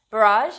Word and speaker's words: barrage: board game experiences around barrage now fun fact before anybody comments the word barrage is pronounced differently in american and british english and i can attest